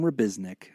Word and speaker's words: Rabiznik: Rabiznik. Jim, it's pronounced just like it's spelled.